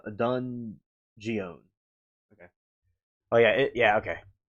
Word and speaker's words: Dungeness: You see because I'm pronouncing it wrong. So, it's Dungeness crabs. No dungeon. Dungeness.